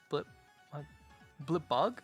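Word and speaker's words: Blipbug: Blip bug?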